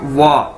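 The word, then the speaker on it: 我: तरह से बोलना है, जिस तरह से आप बोलते हैं वाओ, आप कहते हैं ना वाओ, तो इसी तरह आपने वो जो लास्ट वाला ओ है उसको नहीं बोलना, बस इतना कह देना वाह।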